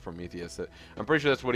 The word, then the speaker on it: Prometheus: or prometheous but it's it should be pronounced Prometheus I'm pretty sure that's